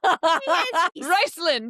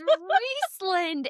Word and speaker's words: Rhysand: Riceland. No, it's Rhysland and Reese.